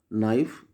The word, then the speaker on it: knife: Kite, no, knife. In no, K silent. In knife also K silent.